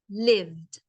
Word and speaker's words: lived: people lived so I remember pronunciation it's one sound lived so many people lived in them until the